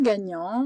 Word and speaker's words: gagnant: Donc le gagnant, on a la syllabe ga.